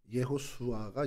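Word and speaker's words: יְהוֹשֻׁעַ: 어이 여호수아는 이름이 뭡니까 여호수아 예수아 예호슈아가 이제 히브리어 발음인데 이게 구약에 축약된 발음이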